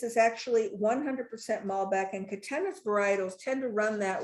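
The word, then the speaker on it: Catena: We are Katenna. Uh which people love to say Katania.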